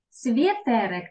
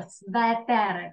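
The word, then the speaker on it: sweterek: Светерик, так більш трохи грубовато, не світерик, а светерик, так? Вимова така трохи грубша, светерик, щоб не було світерик.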